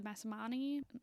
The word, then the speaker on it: Masamune: The Masamune, the Masamune, yeah.